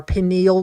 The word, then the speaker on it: pineal: pineal gland, and yes, it does sound like peen, but it is important. If he wasn't from Minnesota, he could pronounce it right. Well, I mean, why would you pronounce that word right? I would always emphasize the peen, and then enial would be lost.